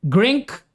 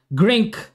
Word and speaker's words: Grenke: Okay at dahil diyan bago tayo maki-update sa Grank yan dati Grenke yun pala silent E pala yon. Ayan salamat po sa mga nag ah tuwid. Grink open freestyle.